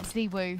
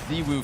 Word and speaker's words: ZywOo: Zwoo, whatever you want to call him. Yeah, you're a part of our trio. It's Ziwu, Frankie. That's an obligation. All right, I'll get it to 2. It's spelled the same.